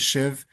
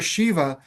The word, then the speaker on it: Shiv: I didn't know it was Shiv uh because a lot of people hear Shiva, but the A is silent which represents the true essence.